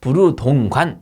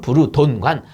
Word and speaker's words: 부르동관: 분 이름을 따 가지고 부르동관 또는 부르동관 요렇게 부르는 거예요 그렇게 알아두시면 되고 아요 압력 이름은 부르동관 식이다 요렇게 보시면 돼요 부르동관 또는 부르돈관 맞는 말입니다 영어 발음이 뿐이죠 자 그렇게 보시면 되고